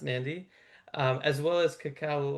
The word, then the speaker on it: Nadi: Uh I know it's spelled Beqa, but it's actually pronounced Benga, same way that Nadi is actually pronounced Nandi.